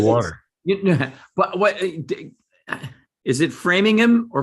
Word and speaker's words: Framingham: but what is it framingham or framingham we say the ham it's just about every every town that has a ham in it we pronounce the ham whereas in england is